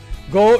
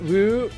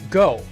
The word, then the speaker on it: 五: Go is pronounced Wu. No. It is pronounced go. It's pronounced go in Japanese.